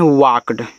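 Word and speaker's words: walked: डब्ल्यू एल के ई डी इसको पढ़ते हैं वाक्ड ऐसे वाक्ड वाल क्रमर पढ़िए वाक्ड पढ़िएगा यहां एल साइलेंट रहता है ए डब्ल्यू ए वाई इसको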